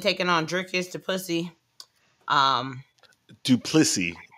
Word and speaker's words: Du Plessis: Du Plessis. You didn't say his name right. His name is Du Plessis.